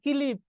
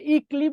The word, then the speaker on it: ক্লিপ: তাহলে উচ্চারণ সবাই কিলিপ, কিলিপ, কি, ক, তারপর সি। আমরা ই ক্লিপ বলতেছি না কিন্তু, ই ক্লিপ বলি না কিন্তু, বলছি হচ্ছে কিলিপ, কিলিপ।